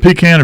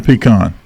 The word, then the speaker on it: pecan: tree out back, and I think So is it pecan or pecan? I think it's Yes. pecan. Yes. If you say that I word always in said front of pecan. pie, how do you say it, Paul? Pie? Well, it's a pecan. Pecan pie. It's pie. pecan pie, but it's a Pecan. pecan nut. Yes.